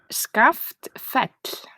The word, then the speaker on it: Skaftfell: the Arts organization that you work for is SCA fet I'm s yes SCA fet I would never have gotten that by reading